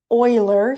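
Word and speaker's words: Euler: Um it's E and there is a mathematician by the name of Oiler.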